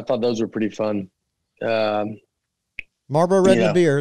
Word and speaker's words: Marlboro: I'd probably just Marlboro. Is that how you say it? It's not how it's spelled. Way it was intended to be said, for sure. Yeah. Marble.